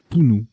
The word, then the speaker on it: punu: Punt et Pounou ou Punu, je ne sais plus comment ça se prononce celui-ci. Pounou, voilà.